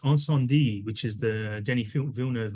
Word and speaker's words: Incendies: on on my curbside collections page in it's pronounced onand d which is the Denny vilner movie you might read it as incendies but it's mate it's to get that on